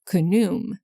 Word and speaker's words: Khnum: The ram-headed or sometimes crocodile-headed god Khnum, sometimes pronounced Khnum.